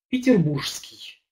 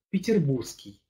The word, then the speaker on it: петербургский: из города ленинграда петербурга я не люблю когда говорят например петербургский я привык все-таки говорить петербургский выпадает так что гамбургский оренбургский при произношении идет выпадение согласно звуку можно сказать гамбургский горский